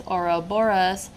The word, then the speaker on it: Ouroboros: I mean they look like they're chasing their own tail so back to the oroborus this little article right it said pronounced as oroboros this symbol represents how